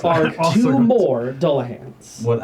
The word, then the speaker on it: Dullahan: more Dullahans What? How do you spell that? mounted on horseback. Dole like Dole Whip? D-U-L-L.